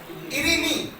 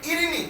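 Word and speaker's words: ειρήνη: के लिए लफ्ज इस्तेमाल हुआ है वो है इरीनी।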